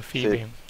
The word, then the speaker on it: Phoebe: so what about you is it Phoebe or Fibe how do you pronounce your game name Phoebe okay so I was pronouncing it right so let's uh so